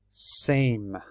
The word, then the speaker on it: same: happens the sound changes so in Sam the a we say ah Sam because there's no e so the a is aa but when we put an e on the e changes the a sound and it makes it a so really the e makes the a say the name of the letter so it